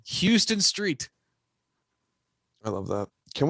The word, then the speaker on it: Houston: Oh, and then one of my all-time favorite modern day baseball names, Houston Street. Totally forgot about Houston Street. That is his name, Houston Street.